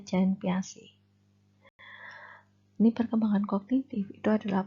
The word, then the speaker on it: Jean Piaget: Ini tokohnya adalah Jean Piaget, gitu ya. Tulisannya begitu tapi bacanya Jean Piaget.